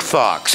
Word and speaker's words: Faux: his name is Zeke Fox it is spelled FAU X which as we who know a little bit of that language knows means fake so but this is